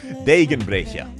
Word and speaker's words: Degenbrecher: Degenbrecker. Degenbrecher is the correct pronunciation.